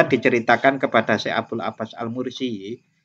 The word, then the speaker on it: al-Mursi: diceritakan kepada Abul Abbas al-mursi Abdul Abbas Al mursyi atau Kadang orang membacanya almarisi ini ku gurunya sahih